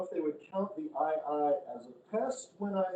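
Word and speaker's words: aye-aye: omen to that effect called the ii it's spelled aye twice they're they kind of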